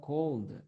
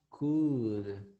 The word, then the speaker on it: could: Then it's not cold, Oscar. It is could. Could, not cold.